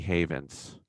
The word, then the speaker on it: Havens: It's Havens. relatively straightforward. I think some Yeah. people call me Haven. And I'm like, well, it's plural. There's multiple. Oh, right. Multiple havens. Right. Excuse me, there's an S.